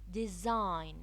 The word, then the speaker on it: design: G is not often pronounced when followed by N. Design. Design. The N followed the G. Assign. Assign. The N followed the G. No. No. The N followed the G. So, sometimes when we have the N following the G in some words, we do not pronounce the G.